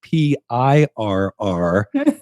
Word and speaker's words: Pirr: I know you all want to know that this is spelled not like a cat, but like Pirr.